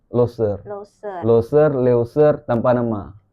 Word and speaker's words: Leuser: Loser apa Loser bacanya? Loser.